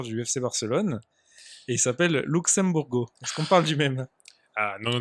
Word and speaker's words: Luxemburgo: parce que déjà déjà je sais pas pourquoi tu le prononce pas à les portugais comme il faut c'est louche m bourgou merci une louche et